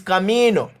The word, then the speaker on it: camino: Because it ends with a vowel, the stress of the word falls on that part of the syllable. So even though it look like it say me, it is really saying me. Camino. That is why it is camino.